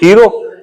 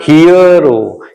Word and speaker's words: HERO: तो देखिए यहां पे HERO को आप क्या पढ़ते हो? हीरो। हीरो नहीं पढ़ना है, उसे क्या पढ़ना है? हीरो, हीरो, हीरो। तो सही उच्चारण है ना इसका, क्या है?